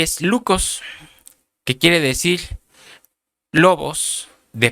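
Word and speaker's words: λύκος: rapaces habla una palabra, la palabra original es una palabra griega que se pronuncia lucos.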